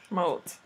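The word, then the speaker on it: mout: Moat. Moat. Like a moat around a castle.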